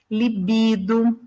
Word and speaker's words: libido: E aí a gente tem alguns casos, só para ficar claro onde é a sílaba tônica. Então, filantropo, ibero, ínterim, libido, Lúcifer, misantropo, ômega, pudico, rubrica e ruim, né?